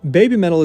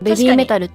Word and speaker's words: BABYMETAL: And BABYMETAL has a similar issue where, as I always say in every video, BABYMETAL is the way many Americans say their band name, but originally it's supposed to be ベビーメタル。